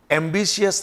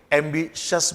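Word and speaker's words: ambitious: जिन शब्दों के लास्ट में IOUS आता है, स्पेसिफिकली अगर ये IOUS T या C या X या G के बाद अगर ये IOUS हो तो इस I का प्रोनाउंसिएशन नहीं किया जाता। तो ये टेनेशियस नहीं है, ये टेनेशियस है। कॉन्शियस नहीं होता, कॉन्शियस होता है। एम्बिशियस नहीं बोलेंगे, एम्बिशस बोलेंगे।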